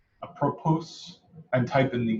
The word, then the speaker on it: apropos: oh there's no ads the S is silent help that's easier for me to second okay so how apropos it's just low so